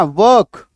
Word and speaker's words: work: ठीक है, काम करना, वर्क वर्कड, ईडी जोड़ दिया। जब भी किसी शब्द में आर आएगा ना, आर का प्रोनाउंसिएशन जो है थोड़ा सा मुंह में रख लीजिएगा।